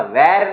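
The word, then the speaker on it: were: वहां पे वॉज या वर आएगा। अगर सब्जेक्ट सिंगुलर तो वॉज, सब्जेक्ट प्लूरल है तो वर। इसका वेर नहीं होगा, वर होगा। प्रोनाउंसिएशन ध्यान रखिए।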